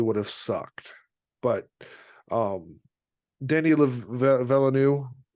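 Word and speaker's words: Villeneuve: have sucked but um dnyanu I think is how his name is pronounced uh is a great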